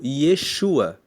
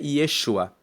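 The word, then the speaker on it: ישוע: O nome de Jesus vem do hebreu Yeshua, que se escreve com Y e com SH, Yeshua.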